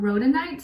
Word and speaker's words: rhodonite: and then as your crystal you guys got rhoda knight so it's spelled r-h-o-d-o-n-i-t-e it's associated with the heart chakra